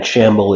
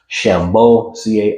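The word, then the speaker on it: Chambeaux: um Dan himself and it's not actually Dan Shamble. It's Shambo CA. I would have spell it wrong, but essentially it's a French name which sounds similar, but because he got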